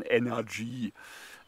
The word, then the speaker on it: NRG: Da schreibt man NRG 5 und das wird dann halt eben schnell ausgesprochen Energy.